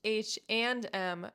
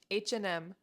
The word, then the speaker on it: H&M: This store is pronounced H&M, but when you speak fast, you can just say H&M. H&M.